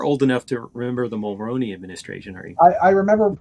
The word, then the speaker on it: Mulroney: But how did you actually pronounce his name? Mulroney. It's Mulrooney. But, see, okay, I'm not truly Canadian.